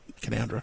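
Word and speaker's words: Canowindra: of north of K Windra kandra kandra see I did that before too my wife told me off sorry everyone sorry for to all of New South Wales for not saying it the way it's spelled kandra long as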